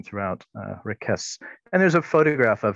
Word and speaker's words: Raquez: his name something like requests with a soft uh s sibilant s on the end as opposed to the hard kind of uh buzzing z sound like lopez so we'll we'll try